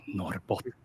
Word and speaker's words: Norrbotten: You pronounce it like, as they speak up north in Sweden, like Nammajaure, Norrbotten. They talk like that.